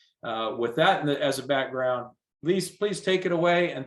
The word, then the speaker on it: Arelis: All right, we're not going to worry about the first name because it's pronounced Arelis.